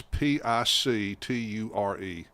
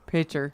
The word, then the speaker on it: picture: How did he pronounce P I C T U R E? Picture. Pitcher. So, a pitcher, not a picture.